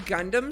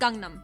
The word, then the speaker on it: Gangnam: Are we saying Gundam style or Gangnam Gangnam. Oh, okay. style? Well, technically it's pronounced Gangnam.